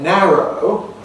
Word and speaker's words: narrow: So in a word like narrow, although some Americans say narrow, perhaps most say narrow.